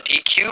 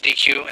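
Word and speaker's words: deque: built-in python data structure called a dq or a deck i think it's dq is the pronunciation basically it's a queue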